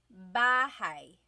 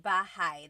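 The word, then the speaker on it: bahay: Bahai. Bahai. You might notice that the spelling is a y at the end. So it looks like bahi, but it's pronounced bahigh. That a y combination is bahi.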